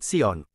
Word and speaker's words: Zion: zionisme berasal dari kata Zion atau siion Zion termasuk pengucapan bahasa Inggris dalam bahasa Latin disebut Sion sedangkan bahasa Ibrani mengatakan